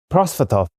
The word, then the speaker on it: Prosvetov: You can pronounce it for me. You're the expert. Prosvetov.